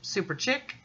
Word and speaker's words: Super Chic: super chic lekker swoon actually it's pronounced super chick and that's swoon again